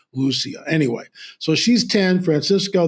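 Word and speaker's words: Lúcia: Most people know her as Lucia, but the correct Portuguese pronunciation is Lucia.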